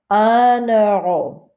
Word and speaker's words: un euro: Un euro. So here we hear the N. It's not nasal like over here. Un, it's un euro. You hear the N because this is a vowel.